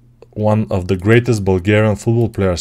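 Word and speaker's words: България: Bulgaria, in my language, we pronounce Bulgaria. Bulgaria.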